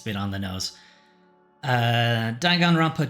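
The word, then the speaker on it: Danganronpa: Uh, Dangan Rompa 2 by 2, that's apparently how it's pronounced, is effectively a remake remaster, probably is probably a bit more accurate, of Danganrampa 2.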